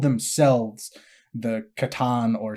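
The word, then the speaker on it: C'tan: they called themselves the Catan or Satan. There's a lot of different pronunciations, or they're also known as the Star Gods. Now, the Catan is how I will pronounce it.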